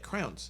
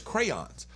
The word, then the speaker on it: crayons: how you say it she made it a one syllable word yeah and I said that's not how you that's not how you say it that's not the word is crayons like Crayola crayons right